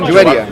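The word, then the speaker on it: Juwayriya: Muhammad's wife, Juwaria, is that how you pronounce her name? Juwaria, yeah.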